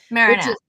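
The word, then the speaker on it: Merinac: They were wondering, well, okay, so Chris, the story takes place in Marinick. Is that how you say it? Marinick.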